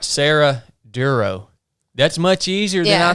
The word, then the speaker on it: Dorough: Yeah, it's pronounced duro. Like thorough. Duro.